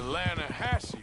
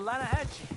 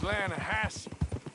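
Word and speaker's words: Lannahechee: You mean the Lanahassee River? No. The Lanahatchee. It runs right near here. Yeah, but it's pronounced Lanahassee.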